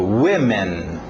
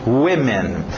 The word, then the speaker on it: women: Alright, agora, o próximo objeto, vamos ver a pronúncia aí, eu explico. Women. Women.